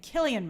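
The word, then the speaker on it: Cillian: you Dylan race I'm never sure how to pronounce his name Killian Murphy thank you uh so so yes we'll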